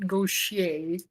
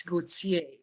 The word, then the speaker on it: Gautier: For all you Americans out there, it's not Gaucher, it's Gautier. Gautier. Gautier. Yes, well, that's how they pronounce it down in Mississippi.